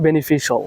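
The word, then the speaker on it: beneficial: এটা শিয়াল টেল হবে না, এটা হবে বেনিফিশিয়াল। বেনিফিশিয়াল। সো বেনিফিশিয়াল বলবেন। আর টেল কি বেনিফিশিয়াল। হ্যাঁ, শিয়াল টেল বললেন না আবার।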